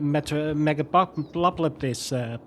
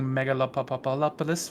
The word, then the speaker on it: Megalopolis: So if you're doing a megapopulous speedrun, then you got the mole people. Yep. You're pronouncing Megalopolis wrong. Please. Oh, sorry. Get that right next time.